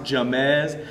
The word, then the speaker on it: James: It's spelled like James, but it's pronounced Jamez.